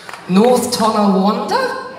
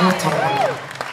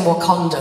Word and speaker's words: North Tonawanda: North Tonawanda? Yeah! North Tonawanda. Woo-hoo. I kept saying Wakanda for ages, and I realised that's that Black Panther film.